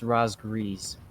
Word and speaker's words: Razgriz: throwing shells downrange on razgriz is daring as they succeed in pushing the shimakaze off the bottom of the sea cap it's pronounced Roz grease excuse me I'm sorry but